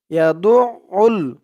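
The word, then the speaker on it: يَدُعُّ: আইন লাম পেশ উল, ইয়াদু উল। আইনের উচ্চারণটা খেয়াল করবেন, আইনের উচ্চারণটা করার সময় গলার ভিতর থেকে উচ্চারণটা আসবে, আওয়াজটা আসবে।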